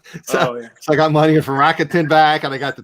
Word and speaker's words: Rakuten: So I got money from Rakuten back, and I got the 10%.